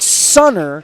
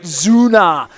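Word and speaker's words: Sünner: u n n r it's spelled like Sunner but they pronounce it Zuna uh that that's my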